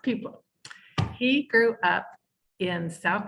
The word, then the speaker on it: Pieplow: really p it's really pie plow but it's his name is pronounced people he grew up in